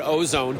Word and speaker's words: Au-Zone: And then finally, what's the best website for our listeners to learn more about Ozone? And we should clarify that Ozone Technologies is spelled AU-ZONE, not ozone as in the ozone layer, but clever play on words, by the way.